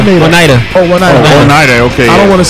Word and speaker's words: Oneida: Oneida. I don't want to say his name. Right. Oh, yeah. Oneida, like the silverware.